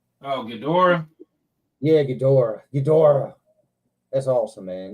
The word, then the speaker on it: Ghidorah: That Ghidra, man, that King Ghidra, I think I'm saying it right. Oh, Ghidorah?